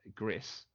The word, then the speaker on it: Gris: of How It's pronounced the developers have confirmed it is uh Gris but they all say Greece yeah so Greece is